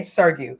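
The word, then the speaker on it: Sugrue: Now, I said this man's name wrong so many times, but this is the correct pronunciation. Okay, Sergio.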